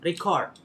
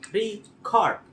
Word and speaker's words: record: Seperti contoh, record dapat memiliki tekanan pada suku kata pertama, re dan cord sebagai kata benda. Pada suku kata kedua yakni record sebagai kata kerja.